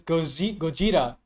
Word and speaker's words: Gojira: I'm just like, I believe the correct pronunciation is Gojira.